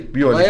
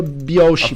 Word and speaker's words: Biolchi: Se escreve é, daí escreve... B-I-O-L-C-H-I. Biolk. Quem fala Biolche merece tomar um pau. Vai aparecer. Mas escreve... soa Biolche.